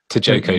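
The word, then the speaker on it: Tjikko: the metaphor of the Chico. Is it the Chico tree or Tico tree? How do you pronounce it? Choko tree. Yeah.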